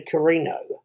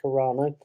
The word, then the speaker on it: Carano: actually going to give gina carrino gina carano i think it's pronounced carano um as cara dune